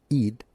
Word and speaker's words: Eid: Aid Eid like feed means festival or celebration.